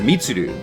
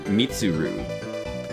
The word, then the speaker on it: Mitsuru: redhead girl who's the leader of the group initially, but she gives it to the her name is Mitsud.